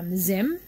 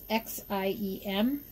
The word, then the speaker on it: Xiem: This is by Zim, or Zim. I never quite know how to pronounce it. It's Xiem, and it's a cutting tool.